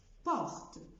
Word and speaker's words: porte: اكزامبل تاني، porte، porte ما بقولش porte.